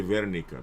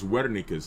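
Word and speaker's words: Wernicke: Now right here posterior speech area is called Wikis area right uh some people say Verika because they pronounce W as a V but it's Wika's area right uh Wika's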